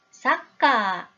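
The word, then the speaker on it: サッカー: 자 적었습니다 마지막입니다 축구를 하는 장면이네요 일본어로 축구는 사까 입니다 아까 라고 적혀져 있나요 이 발음의 는 초 금이 들어갔죠 그런데 여기에는 초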